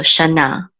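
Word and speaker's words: שָׁנָה: This etnachtar right here, this trope mark, gives us the accent. So we know the syllable is on the last. So we know the accent, is on the last syllable.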